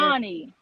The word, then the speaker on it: Shani: How you It's pronounce the name? Shawnee. It's Sean. Shawnee.